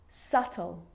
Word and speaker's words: subtle: think of these examples subtle debt and doubt so see in all of those examples my lips aren't closing and coming together to form the B sound I'm just pronouncing the T subtle debt and doubt